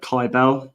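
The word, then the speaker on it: Cybele: dark mother and um like KY Bell is how you pronounce the name the cult of Ky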